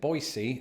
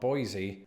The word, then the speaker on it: Boise: learned a couple of things firstly that locals pronounce it Boise and not Boise and also that in the states of Idaho